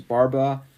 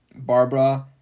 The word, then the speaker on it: Barbara: His first wife was Barbara. Wait. Pronounce that again. Barbara. Yeah, you forgot the last R.